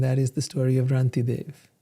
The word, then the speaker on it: Rantideva: So this is how you say Rantideva.